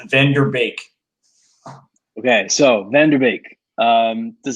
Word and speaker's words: van de Beek: do you say it so a lot of people are going to pronounce the van de beek but i think they get the correct set is van der beek okay so vanderbik um